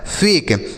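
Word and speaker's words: fake: और किसी भी शब्द के लास्ट में अगर इ रहता है बच्चों तो उसका उच्चारण हम नहीं करते हैं। उसे नहीं पढ़ते हैं। ठीक है? तो लास्ट में इ है इसे हम नहीं पढ़ेंगे। तो ए का उच्चारण यहां पर क्या हो रहा है बच्चों? ए की मात्रा। एफ से हो गया फ। ए से ए की मात्रा। के ई से क लिखा है फेक।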